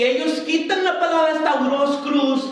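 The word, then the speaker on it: σταυρός: Stauros. Y significa cruz. Ellos lo alteraron. Stauros, con acento en la O. S-T-A-U-R-O con acento S.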